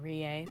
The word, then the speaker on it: Rie: Oh, Rie. Yeah. Oh, Rie? Sorry. Yeah. Oh, yeah, you pronounce it Rie.